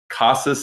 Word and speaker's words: Casas: So Casas is the correct way.